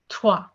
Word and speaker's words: trois: Three is pronounced as trois.